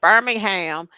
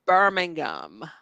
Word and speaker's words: Birmingham: of stuff you can't come over here saying Birmingham okay it's not Alabama it's not Alabama okay it's Birmingham yeah all right and then from here and